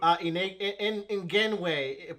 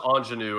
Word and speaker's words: Ingenue: In Genway, please help. Oh, this is pronounced Ingenue, actually.